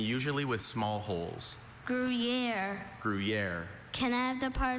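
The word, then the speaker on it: Gruyère: There are a couple. I have grriier. Also, griier. Griier.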